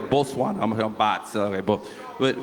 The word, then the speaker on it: Botswana: I'm I'm I feel like I'm from Bosswana. I've been here since Sunday. I'm like I feel like maybe let me actually let me say it right. Bosswana.